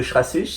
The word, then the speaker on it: Schrassig: Le deuxième c'est torture psychotronique au goulag de Schrassich. Alors Schrassich c'est la prison de Luxembourg, hein, ça s'écrit Schrassig.